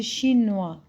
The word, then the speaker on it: chinoise: Parce qu'ici, pardon, le S entre deux voyelles, je le prononce Z.